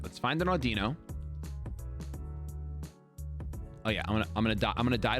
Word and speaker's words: Audino: Audino, actually, is the way you pronounce it.